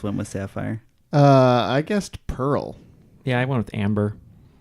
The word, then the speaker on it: Perl: To I'll say Pearl is wrong. To my knowledge, Pearl is Sapphire and Amber are not the names of programming languages. Pearl is, however, it is a homophone. I believe it's spelled P-E-R-L, but yeah, I'll give it to you.